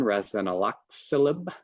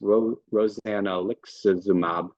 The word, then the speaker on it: rozanolixizumab: The newer one, rozanolixizumab, which I mispronounced, rozanolixizumab, sub-Q injections given weekly for 6 weeks, and then a period off, and then redosing.